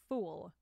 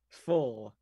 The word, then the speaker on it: full: Like, when you say it, sounds like you're saying fool. Fool? Full. I feel like I'm having a dictation lesson, like I'm teaching you elocution. Full. I understand because of how it's spelled. Like there's a, it's not double O, like full.